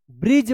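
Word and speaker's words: bridge: Last वाला ई का उच्चारण नहीं होता है। ये भी साइलेंट रहता है। तो बी आर आई डी जी ई ब्रिज पढ़ेंगे।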